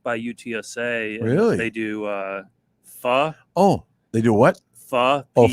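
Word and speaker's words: phở: Yeah, it's supposedly pronounced pho. Like F-A-H.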